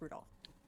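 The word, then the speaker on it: Rudolf: It's just Anyway, this name is pronounced Rudolph. Rudolph.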